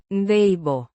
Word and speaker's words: debo: Pronounced. day-boh. With a soft De. sound and the emphasis on the first syllable.